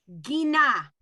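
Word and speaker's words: גינה: Gina.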